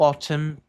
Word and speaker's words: autumn: To yellow autumn turned. Um deszinho quase mudo. Turned. Yellow autum. Autum third. Aqui se pronuncia um leve m no final também. Autum. Autum yellow.